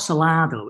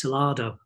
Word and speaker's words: Salado: Not Salado, it's Salado. Salado, that's how you say it, isn't it?